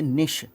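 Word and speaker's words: niche: carry curve out ए निश इसको निश प्रोनाउंस करते हैं और निश जो क्या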